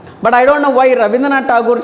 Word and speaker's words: Rabindranath Tagore: which is awarded for Nobel Peace Prize, is Rabindranath Tagore. As for the written language, we need to write R-A-B-I, Rabindranath Tagore. As for the pronunciation, we need to read Rabindranath Tagore according to Bengali, as per he is Bengali poet.